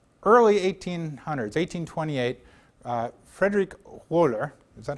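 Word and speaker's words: Wöhler: then in the early 1800s 1828 uh Frederick wer is that how I pronounced it is that correct yes woer Wolf Gang wer okay uh fed Waller uh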